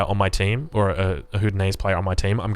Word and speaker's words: howdah: Howdah is the correct pronunciation.